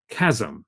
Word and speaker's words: CHASM: annotation with single molecules or chasm that's how we're pronouncing this chasm uh um and i